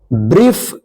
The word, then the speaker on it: brief: अब यहां पे देखिए, आई और ई या ई आई एक साथ रहता है किसी भी वर्ड्स में तो इसका ई उच्चारण दीर्घ लंबा उच्चारण होगा, ठीक है ना।